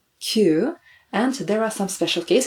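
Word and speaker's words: 九: The Buddhist term for suffering is ku, and we do not want to bring more suffering into our life, so we try to avoid pronouncing this term ku, so we count kyu, and there are some special cases.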